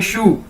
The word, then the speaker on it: shu: जिस तरह हम बोलते हैं जूते को इंग्लिश में शू, एक जूते को कैसे बोलते हैं? शू, SHU, शू।